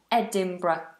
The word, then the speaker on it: Edinburgh: why won't help you just know the correct pronunciation Edinburgh Edinburgh it's a lovely beautiful city in Scotland